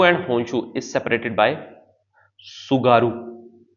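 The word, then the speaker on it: Tsugaru: होकायडू एंड होनशू is separated by सुगारू। सुगारू T silent रहेगा। सुगारू एस यू जी ए आर यू सुगारू state.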